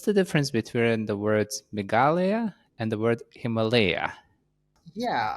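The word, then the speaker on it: Meghalaya: difference between the word megala and the word Himalaya yeah uh I mean I think they should be pronounced the same way Himalaya and meala they're both derived from Sanskrit um so Himalaya means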